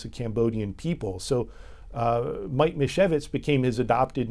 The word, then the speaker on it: Misiewicz: So Mike Misiewicz is how you say his name. It's a Polish-sounding name.